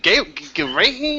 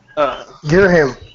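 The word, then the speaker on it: Ghirahim: Now we can just figure out how to pronounce that dude's name from Skyward Sword. Is it Gerahin? I'm like, what? Girahim.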